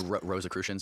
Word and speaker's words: Rosicrucians: Rosicrucians. Rosicrucians, yeah.